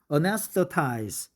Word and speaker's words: anesthetize: Anesthetize. Anesthetize. Very good. Anesthetize. Anesthetize. So pronunciation becomes easier if you put the accent on the second A, right? Not instead of the first A.